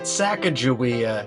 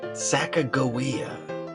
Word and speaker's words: Sacagawea: as the Sacagawea dollar is actually pronounced Sacagawea. That's right. Not Sacagawea, Sacagawea. Sacagawea. Sacagawea. Sacagawea. Sacagawea.